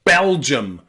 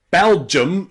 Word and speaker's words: Belgium: aquarium and medium okay one common exception to the ium rule is the country Belgium so instead of aluminium Belgium is just simply pronounced um Belgium Belgium Belgium okay so remember Belgium is an exception to that rule the second way we